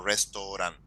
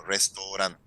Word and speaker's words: restaurant: menos así la promoción no restaurado sino restaurant Inténtalo a ver cómo te sale como restaurante Porque si pronunciamos porque si pronunciamos restaurant o te sale exactamente Como si fuese en español la otra que viene